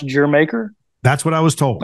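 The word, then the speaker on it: D'yer Mak'er: because I was chastised uh I'm like that's dire maker yeah that's the way it's spelled right d-y-u-l d-y-e your maker Jamaica so it's pronounced your maker that's what I was told okay I was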